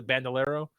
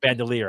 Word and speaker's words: bandolier: The bandolero of bullets, essentially, of just giant grenades are just across the back of the car. Bandolier, I think it's actually how you say it.